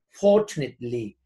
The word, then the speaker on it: fortunately: Fortunately, unfortunately, ojo con la pronunciación. Fortunately, esta A como que si no estuviera. Fortunately, y el acento se hace más atrasito.